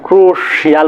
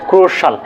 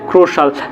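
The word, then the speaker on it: crucial: আমরা সেটাকে বলি ফাইনান্সিয়াল তারপরে কি বলতে পারি ক্রুশিয়াল বলি আসলে সেটার উচ্চারণ কি হবে ক্রুশাল কি হবে ক্রুশাল তারপরে কি আছে beneficial beneficial সোশ্যাল সোশ্যাল সোশ্যাল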